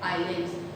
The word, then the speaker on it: islands: Islands. कोई बच्चा island तो नहीं बोल रहा उसको? नहीं ना, उसको हमने कैसे प्रोनाउंस करना है?